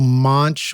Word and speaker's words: Monch: Porter, Eminem, Pharoahe Monch, or Monk. How do you say Pharoahe it? Monch. Pharoahe Monch.